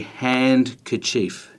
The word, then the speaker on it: handkerchief: became known as a hand kerchief and then over time our pronunciation of it has just meant that we tend to not pronounce the D and so we get